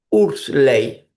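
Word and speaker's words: Huxley: Hubo un profesor, se se escribe u Hu e X L e Y. ¿Cómo se pronuncia? Ursley. Vamos a decir que se pronuncia así.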